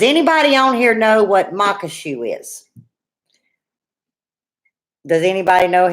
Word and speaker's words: maque choux: it without googling it cuz it's like you're gonna mock somebody as mock oh shoot like a shoe that you put on your foot it monk a shoe but I wasn't sure